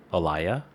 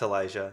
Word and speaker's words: Elijah: how to pronounce this Elia Elijah Elijah do you pronounce a j yeah it's Elijah yeah Elijah okay wow